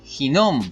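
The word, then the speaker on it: הִנֹּם: geginón Valle de ginon en el hebreo se pronuncia así hinom Gen jinon y en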